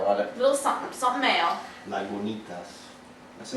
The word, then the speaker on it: Lagunitas: Lagunitas. It tells you how to pronounce it.